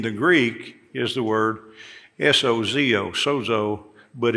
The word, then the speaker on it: sozo: Greek is the word s-o-z-o Sozo but it's it's pronounced like it's got a D in it sod so that's the